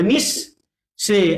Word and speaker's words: নিঃশেষ: হয়ে যাবে বলেন নি বিসর্গের কারণে স দুইবার হবে স দুইবার হবে নিশ সে আর এই যে তালব্য